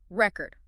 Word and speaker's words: record: OK, what about those words like record?Record. Minimal pair drills. Practice them back-to-back. Record, record, export, export. Really focus on shifting just the stress it trains control.